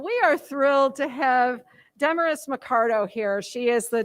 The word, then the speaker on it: Damaris: It's Damaris, like glamorous, darling.